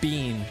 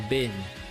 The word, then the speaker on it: been: I pronounce it bean as opposed to bin, you know?